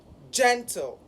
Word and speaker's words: gentle: So when pronouncing the word gentle, gen, which is the first syllable of that word and has the primary stress of that word, should be higher in pitch.